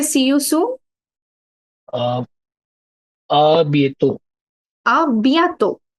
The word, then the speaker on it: à bientôt: Uh, à bientôt. Bientôt. À Bientôt. bien. À Yeah. bientôt. Again, the nasal sound will come.